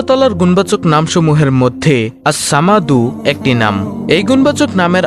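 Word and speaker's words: الصمد: আল্লাহর এই গুণবাচক নাম আসসামাদু এর জিকিরের আমল ও ফজিলত তুলে ধরা হলো। নামটির সঠিক উচ্চারণ হল আসসামাদু অর্থ হলো তিনি কারো মুখাপেক্ষী নন অভাবমুক্ত স্বয়ংসম্পূর্ণ সবাই তার মুখাপেক্ষী।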